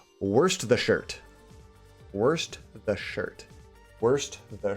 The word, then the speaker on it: Worcestershire: I always say Worcestershire. Worcestershire. Worcestershire. Worcestershire. Worcestershire. Almost sounds like you're saying worst the shirt.